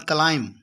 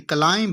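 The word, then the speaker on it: climb: उसके बाद क्लाइम, क्लाइम यानी कि क्लाइंब नहीं बोलते बल्कि क्या बोलते हैं, क्लाइम बोलते हैं।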